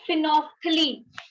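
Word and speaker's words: phenolphthalein: पहला है फिनोल्फ्थलीन, इसकी स्पेलिंग देख लेना ध्यान से, इसको बोलते हैं फिनोफ्थलीन, फिनोफ्थलीन, फिनोल्फ्थलीन, ठीक है, फिनोफ्थलीन।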